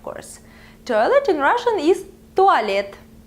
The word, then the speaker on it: туалет: Toilet in Russian is туалет. Туалет.